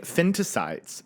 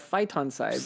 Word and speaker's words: phytoncides: Like phytoncides. Phytoncides. Wow. Like you fight on that side, I'll fight on this side. Fight on sides.